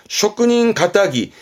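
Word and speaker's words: 職人気質: 쇼크닝 가따기. 가따기 한자는 기질을 의미합니다만은 이 기질이라는 건 묶어서 쇼크닝 가따기라 함은 장인 정신이다 라고 묶어버리시면 좋습니다. 쇼크닝 가따기. 가따기는 발음이 특별음이기 때문에 꼭 기억해 두세요.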